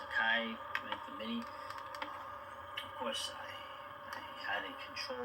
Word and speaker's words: Akai: It's pronounced Akai for mini.